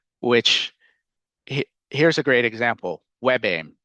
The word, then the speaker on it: WebAIM: um it is more a screen reader is more likely to read that correctly as web aim and pronounce it how